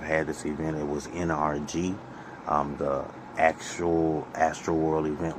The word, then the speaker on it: NRG: this event it was nrg um the actual astroworld event was in a place called nrg which those letters phonetically sound like the word energy um so people said